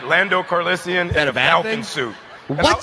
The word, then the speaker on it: Calrissian: I heard an extra syllable. I heard an extra syllable. Calrissian.